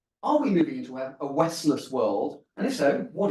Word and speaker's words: Westless: I wrote a book it's called wless and the key is the second syllable is less so it's not none of the West it's not collapse of